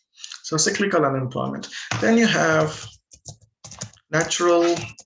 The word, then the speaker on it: cyclical: you may call it cyclical but it's actually pronounced as cyclical comes from the term business cycle so cyclical unemployment then you have